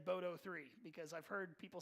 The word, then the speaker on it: boto3: now the big point of contention it is pronounced boto three i did pull up several youtube videos last night i did verify and listen to people actually say it out loud and they said boto three because I've heard people say other things boto